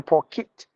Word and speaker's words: pocket: jacket pocket kit T the spelling is K T but you have to give uh the sound like K it kit like pocket what is what is there in your pocket that's how you have to say pocket kit kit what is it your pokit that's how we have to pronounce this one look at this one